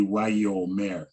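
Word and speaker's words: ויאמר: This can be kind of tricky sometimes, but that yod has that dot with it. So, I mean, in general convention, you would be Wayomer, Wayomer, right? Omer. Instead of just skipping it as Wayomer, it's got that little dot. So in conventional, it would be Wayomer. You kind of get that year in there, Wayomer.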